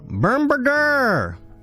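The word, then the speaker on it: Bombirdier: Up next was the Open Sky Titan, Bermberger! Yes, that is in fact the correct pronunciation.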